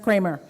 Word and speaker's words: Kremer: Steve Kremer, who is, it says Kremer spelling, but it's pronounced Kremer.